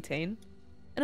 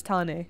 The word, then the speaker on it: Tane: grew up speaking English to just call me and also I do think a cool name